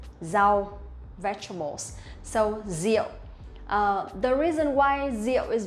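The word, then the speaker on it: rượu: pronounce the r sound we will not pronounce like r in english but we pronounce like z sound in vietnamese or in english zeal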